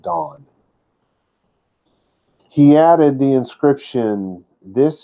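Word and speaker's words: Dan: say da in it's not pronounced and it's pronounced dawn he added the inscription this is your god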